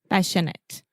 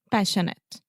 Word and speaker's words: passionate: passionate you said passionate passionate so remember the majority of adjectives in English that end in ate we will simply produce the it sounds a passionate passionate delicate delicate adequate adequate